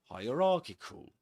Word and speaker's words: hierarchical: YouTube guys hierarchy hierarchical remember again like ha ra the Egyptian god and but in this case it's not ki but kik hierarchical okay so perfect and this is the phmic transcript description.